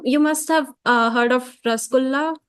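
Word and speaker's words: rasgulla: must have heard of rasgula. I think they pronounce it rogula, right? Ros gula. Yeah. Yeah. Yeah. Rosh gula. They say rosh gula.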